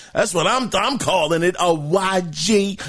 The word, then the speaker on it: Awaji: Awaji. It's spelled A-W-A-J-I.